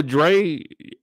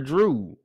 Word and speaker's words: Dre: it is with Elizabeth they say her name is Dre I thought they were calling her Drew I know I heard